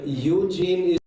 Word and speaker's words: Eugene: Okay, Eugene is the English pronunciation. Yeah. If there is an E at the end, then it's Eugene. The German pronunciation is Eugen.